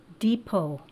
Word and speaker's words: depot: chancy word number four Depot Depot is actually spelled dep ot that T is silent the Depot is a